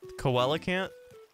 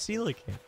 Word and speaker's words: coelacanth: is that how you pronounce it look III pronounce the coelacanth koala can't in that video and people have been giving me so much crap over that was actually pronounced I've always pronounced that koala can't always and it's Selig I didn't know that